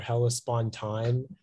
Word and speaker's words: Hellespontine: It can be pronounced hellespontan or hellespontine.